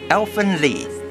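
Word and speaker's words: Elfen Lied: even if just a little bit number tree Elfen leave they are pronounced it that way you guys happy now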